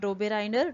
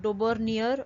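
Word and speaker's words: Döbereiner: Okay, now देखो ये जो साइंटिस्ट का नाम है, you can call him Dobereiner या Dobernier. Okay, anything, pronunciation हर एक का अलग अलग होता है. तो जो भी pronunciation आपको comfortable है, बस स्पेलिंग ठीक से अच्छे से लिखो.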